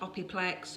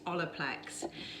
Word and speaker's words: Olaplex: how to pronounce it they ask us about opiplex or opiplex or opelex it's olaplex so they want to know